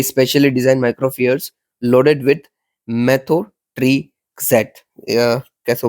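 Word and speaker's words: methotrexate: लीजिए कि भाई specially design माइक्रोफियर्स loaded with मेथोट्रेक्सेट, कैसे प्रोनाउंस करना चाहिए, मेथोट्रेक्सेट, yes that should be better.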